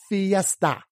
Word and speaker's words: Fiesta: your Ford Fiesta right fee f-i Phi esta right there Fiesta which of course if you've ever seen the Ford Fiesta that is quite a little party on four wheels right that eye is making the long e sound right and then that